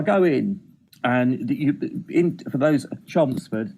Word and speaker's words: Chelmsford: Chelmsford. That's how you say it. If you're from there, you say Chelmsford.